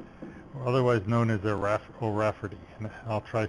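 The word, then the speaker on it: O'Raifeartaigh: known as the irascible Rafferty I'll try spelling it hi GH Rafferty it's pronounced like like like Rafferty is a sort of an American Irish name just like Donahue and the gh is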